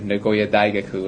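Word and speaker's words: 名古屋大学: And so I had the opportunity to go to Nagoya Daigaku, is how they say it in Japanese, the university.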